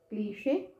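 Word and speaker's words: cliché: इसको कैसे, क्लीशे, क्लीशे है ना, और ये क्या है, इसका साउंड इज नीश, सॉरी इसका साउंड मैं बताती हूँ, क्लीशे, क्लीशे, और ये है नीश, नीश, ऐसा, ठीक है।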